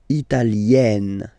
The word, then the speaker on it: italienne: Remember, when you get this E followed by a double consonant like here, then you will have to open it. Italienne, Italienne.